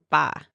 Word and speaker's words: 吧: And the ba just is a neutral tone. So it's pronounced very lightly.